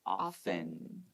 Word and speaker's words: often: go pay attention often even though it has a t we usually don't pronounce it we don't usually go often okay some people do but it's actually more natural to say often okay so often the